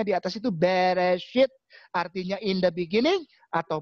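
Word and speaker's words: בראשית: Tapi insya Allah malam ini aku kasih tahu bahwa bacanya di atas itu Bereshit, artinya in the beginning atau pada mulanya.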